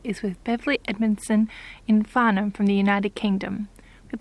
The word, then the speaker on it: Farnham: How do we pronounce that? Farnham.